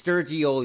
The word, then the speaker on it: Sturgioli: It's Sturgioli, like a mix of sturgeon and ravioli. That's how you pronounce it.